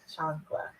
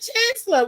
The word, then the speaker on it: chancla: hold on reckon I'm I pronounced it chancla oh I'm like what is this what is a chancellor what is that